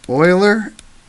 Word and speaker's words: Euler: talk about Euler's method it is pronounced Euler as in someone who's drilling for oil mathematicians prefer the appropriate